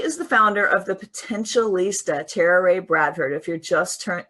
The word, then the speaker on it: Potentialista: Potentialista.